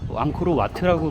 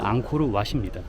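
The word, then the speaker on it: 앙코르왓: 참고로 앙코르와트라고 불려지지만 사실은 앙코르왑입니다. 와프라케오의 왓이 사원을 뜻하는데, 그거랑 동일하게 왓이라는 문자를 쓰지만 그냥 발음이 조금 다르다고 보시면 될 것 같습니다.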